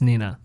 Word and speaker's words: Nina: She puts N-E-E. She writes 9-AH or NEE-NUH. Oh, okay. I was confused. Okay. Speak No Evil monkey, Mimi. It's Nina. Nobody pronounces it Nina.